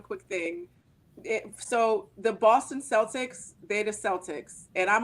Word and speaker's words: Celtic: the word was originally pronounced that like a hard C like kite and Kilt Celtic okay okay go ahead